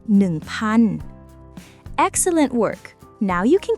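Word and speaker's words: พัน: Nan.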